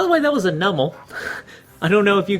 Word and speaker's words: Numel: By the way, that was a nummel. I don't know if you guys were following it. I sure weren't. Oh, I think it's pronounced Numel, but uh Numl works pretty well now.